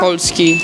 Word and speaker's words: Polski: Polski.